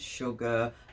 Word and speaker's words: sugar: Sugar, you get the SH sound, but it's spelled SU.